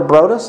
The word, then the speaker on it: Brodus: Our first one goes out to Hunter Brodus, I think, is that right? Hunter Brodus. Brodus? Yeah. It's funny, him and Snoop Dogg's last names are pronounced the same.